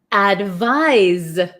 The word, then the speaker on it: advise: then here we have advise advise so it's so tricky right advice has an S sound but it's spelled with a c advise has a z sound but spelled with an s h why is English